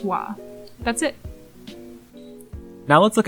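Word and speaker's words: は: for ha are simple as a letter it is pronounced ha as a particle it is pronounced wah that's it now let's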